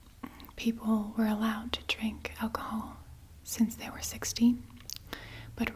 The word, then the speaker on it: alcohol: Try and pronounce it. Pretty good. Alcohol.